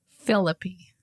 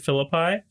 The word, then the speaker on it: Philippi: A lot of people pronounce it Philippi, and that just doesn't feel right. I'm trying to think of other Greek cities that end in an I. And I can only think of, well, this is Italian, Pompeii. Right. Which... No, an I at the end of the word is not pronounced I. It's E.